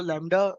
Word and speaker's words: lambda: इसको लैम्डा pronounce करते हैं LAMBDA।